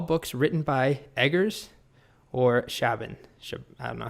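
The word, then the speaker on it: Chabon: written by edgar's or shaban i don't know how you say his name honestly that guy great author well i just googled it and apparently it's pronounced shay bun so select all books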